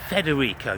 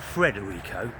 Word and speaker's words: Federico: Federico, not Fred Rico.